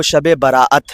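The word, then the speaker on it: شب براءت: اس کا جو اصل تلفظ ہے وہ شب براعت ہے، یعنی دونوں لفظ مکس ہیں، اور یہ دن جو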